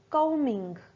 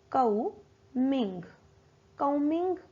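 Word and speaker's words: combing: आप खुद से बोलिए आई एम कमिंग हमारा एम साइलेंट रहेगा वह भी साइलेंट रहेगा हम बोलेंगे कौथिग माय हेयर आई एम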